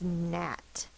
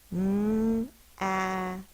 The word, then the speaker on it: gnat: The first one is gnat. The gnat was flying around my plant. N-at. N is spelled with a G-N.